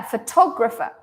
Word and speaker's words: photographer: you can hear that in this word the stress affects the pronunciation of the other syllables so here I say o it's a very nice o photograph photograph and this this